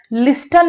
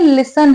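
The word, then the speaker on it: listen: तो कोई काम नहीं किया है, क्या काम नहीं किया है, लिसन, लिसन है यहाँ पर हमारा वर्ब, लिस्टन नहीं है, लिसन है, ठीक है। इसमें टी साइलेंट होता है, लिसन हमेशा टू के साथ ही आता है, ठीक है ना।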